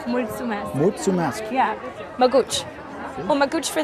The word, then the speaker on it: Mulțumesc: In Romanian, it's Mulțumesc. Muchamask. Mulțumesc. Mutsumask.